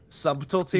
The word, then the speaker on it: subtlety: I just want to say I'm very surprised because you normally pronounce the silent letters in words. Subtlety? Yeah, I thought I'm kind of disappointed, honestly. I don't think BT sounds good together.